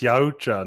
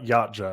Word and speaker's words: Yautja: So it's officially settled. It's Yautja, not Yautja.